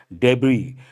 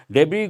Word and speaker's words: debris: are known as debris the last letter s is silent that you have to